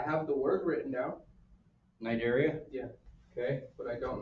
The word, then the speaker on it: Cnidaria: Name an animal in the phylum Cnidaria. C is silent.